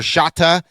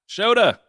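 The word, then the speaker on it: Shota: Shata Imangada. Shoda. Is it Shoda? Iaga. I forget that Japanese pronounce that O.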